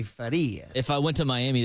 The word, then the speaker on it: Farias: as we say good morning early at 6:18 in the morning to young Farias. Farias. Interestingly, you told us that that's the true pronunciation, but you don't go by that here in Gringo Land, do you?